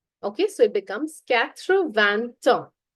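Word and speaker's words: quatre-vingt-un: So it becomes Kravan. Katra van. Notice that there is no s in van.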